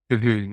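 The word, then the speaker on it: Colquhoun: e l l kahon is also spelled with it's called Quan yeah those people who know English spellings are impossible well that's a Scottish name actually eel kahun I'm going to look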